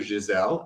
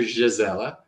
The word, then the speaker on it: Gisela: So Dr. Giselle, I should say, I don't know why I'm just saying Giselle, that's not nice. I'm trying to learn how to say her name right, which I'm struggling with. But Dr. Gisela, she is a doctor that is very interesting.